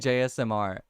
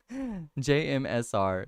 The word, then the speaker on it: JMSR: you know what jmsr I've been saying your name wrong I keep saying jsmr and I've like literally